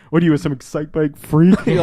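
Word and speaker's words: Excitebike: I was like, I keep pronouncing a psych bike, and I'm like, what am I, a fucking idiot? Like, Excite Bike. It's Excite Bike.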